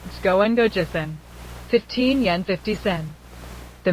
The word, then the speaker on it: 十五円五十銭: If that man in the happy coat had been Korean, and had pronounced Jugo gojussen as Chkon Kojussen, he would have been dragged away on the spot.